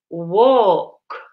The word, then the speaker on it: walk: Now listen to the pronunciation of this word, walk. La L silenzioso qua. Walk.